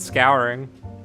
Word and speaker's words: scouring: I pronounce it scouring. Like scour and then ing. Scouring. Like you're scouring the store to find milk.